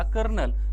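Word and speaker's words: colonel: ओ एल ओ एन इ एल ही त्याची spelling आहे आणि वाचते त्याला कर्नल म्हणून इंग्रजी अवघड आहे म्हणून इंग्रजी काय अवघड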